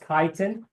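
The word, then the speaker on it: chitin: we don't eat last one kiten this is pronounced kiten the h i t i n kitan is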